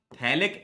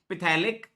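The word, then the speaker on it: phthalic: तो बी बन जाएगा थैलिक एनहाइड्राइड। थैलिक एनहाइड्राइड बन गया। देखिए थैलिक एनहाइड्राइड बोलेंगे इसको। पिथैलिक, पी साइलेंट होता है ना, थैलिक एनहाइड्राइड बन गया।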